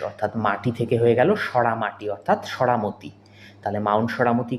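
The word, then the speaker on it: Saramati: দেখো এটা আমরা এভাবে মনে রাখতে পারি, সরামতি শেষে দেখো কি রয়েছে, MATI রয়েছে, তো একে আমরা মতি না বলে মাটির মতো উচ্চারণ করব। তাহলে সরামতিকে আমরা কি বলবো? সরামাটি।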